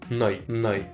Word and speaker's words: Noi: And you say really clearly, Noi, Noah, E.